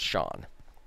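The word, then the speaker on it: Sean: you young man but I think that's pronounced shawn and I'm like oh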